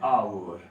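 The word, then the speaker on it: hour: ध्यान रखिएगा, इसके साथ आप क्या लगाएंगे, आर्टिकल एन लगता है, ध्यान रखें, जैसे आवर, ठीक है, इसका उच्चारण होता है ऑनर, इसका उच्चारण आप करते हैं आवर, ठीक है। इन दोनों के साथ है आर्टिकल ए लगाने का प्रयास न करें।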